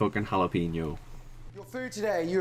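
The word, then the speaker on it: jalapeño: got to Google that jalapeno it's jalapeno not jalapeno oh my God it's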